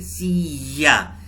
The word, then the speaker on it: silla: एस की आवाज भी वही होती है, SILLA, सिया। याद है मैंने आपको बताया था डबल एल स्पेनिश में ये प्रोनाउंस की जाती है।